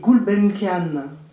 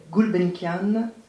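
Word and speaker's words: Gulbenkian: prestigieux prix pour ses traductions dont le prix gulbenkanan on prononce comme ça gulbenkanan books 2015 de la meilleure traduction d'une œuvre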